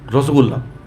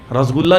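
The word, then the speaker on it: রসগোল্লা: हरे sweet like sweet रसगुल्ला उसको बोले जैसे वहां वहां पर मिठाई आती है चमचम हम लोग चमचम बोलते हैं चमचम नहीं होता चोम चोम होता है रसगुल्ला नहीं होता रसोगुल्ला होता है इसलिए कृष्ण कृष्ण बोलते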